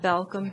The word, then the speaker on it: Balcom: It's pronounced Balcom, B-A-L-C-O-M.